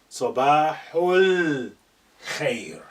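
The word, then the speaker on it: صباح الخير: Ignoring your pronunciation, the alif is now silent. Sabahul khair.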